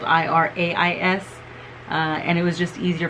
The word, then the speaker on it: Irais: So in Spanish, my mom's name is Irais. So Iris, I know is spelled I-R-I-S, but my mom's is spelled I-R-A-I-S.